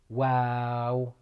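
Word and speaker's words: واو: a light letter wow it's almost like wow but it's light letter wow wow next letter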